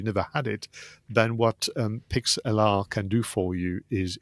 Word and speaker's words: Pixlr: I think that's how you pronounce it, Pixlr, Pixlr.